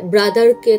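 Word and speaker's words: brother: যেমন দেখা যায় ব্রাদারকে তারা ব্রাদা বলে, শেষ আরটা কিন্তু উচ্চারণ হচ্ছে না, উচ্চারণ করে শেষ করে দিচ্ছে।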